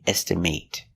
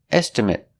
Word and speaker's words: estimate: With the long A, estimate. But if it's not a verb, estimate. I need to get an estimate for the job. An estimate, like a quote. An estimate is a noun. It's not a verb. It's a thing. It's a piece of paper with the price on it. Estimate, with the short sound.